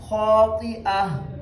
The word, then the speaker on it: خاطئة: ہیں، تو یہاں پہ ہم نے حمزہ کو بالکل صاف صاف اس کا تلفظ کرنا ہے، تو پڑھنا ہے خاطئہ، خاطئہ، خاطئہ نہیں خاطئہ۔ اب اس کو دوبارہ